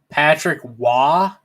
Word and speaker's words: Patrick Roy: i gotta google uh how to pronounce patrick roy patrick wah all right he can